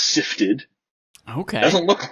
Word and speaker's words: SIFTD: It's SIFTD, which it is actually pronounced Sifted.